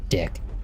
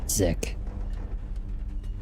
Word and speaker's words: Dick: I think his name is Sergeant Dick. You don't pronounce it Zick.